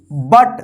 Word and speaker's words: but: BUT, इसको क्या पढ़ेंगे, बट।